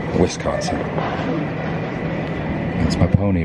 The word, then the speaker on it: Wisconsin: collided was close and evidently it's pronounced Wisconsin not westconsin you don't want to say westconsin Wisconsin Wisconsin that's my pony right